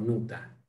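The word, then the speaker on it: Noether: Bueno, alguna vez lo miré en Wikipedia y se pronuncia algo así como Nuta. Mira, notable. Sí, es raro porque el alemán suele tender a pronunciarse como se escribe, Sí, pero sí.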